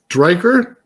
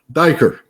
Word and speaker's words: Dyker: And it was DK Derer. Dyker. Dyker. Okay. Yeah. I didn't want to say it wrong. No, it's like D uh Danish diver basically.